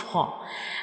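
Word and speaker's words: خ: And when we pronounce haw, we read it with a hard sound. The sound fills into the mouth like ho. The sound fills into the mouth when we read ho.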